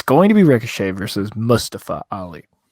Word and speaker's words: Mustafa: we're going to have mustafa not mustafa he said it's mustafa um say it right he made a big deal about that on talking raw